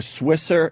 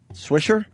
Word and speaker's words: Swisher: Oh, okay even say his name yet or swisser swischer swish sure Huh? Swisher that's how you pronounce it all right wait till